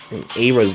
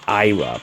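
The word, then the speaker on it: Eir: The Astra 2 charge, and then you have Era's blade, which gives you... I think she's supposed to be pronounced Ira, but you know what?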